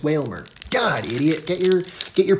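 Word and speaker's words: Wailmer: I keep saying it's Whalmer. It's not Whalmer. It's Whalmer.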